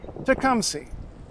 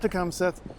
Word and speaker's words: Tecumseth: after a Shawnee chief his name as you can see if you just read it is obviously to come see that's right not to come set the tea just kind of got stuck in there for reasons that remain historically unclear and it only shows up in a couple of Ontario place names everywhere else it's just an H there his name was Nicholas